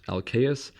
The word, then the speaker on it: Alcaeus: In addition to Sappho, we hear of the singer Alcaeus, sometimes pronounced Alcaeus, and also of Arion, the singer who was